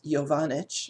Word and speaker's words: Jovanic: at first and unfortunately i gave him a difficult name to pronounce but it's jovanich his last name and um and the